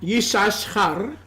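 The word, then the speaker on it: יששכר: I'm going to give you the proper Hebrew pronunciation. Les daré la propia pronunciación hebrea. Yisachar.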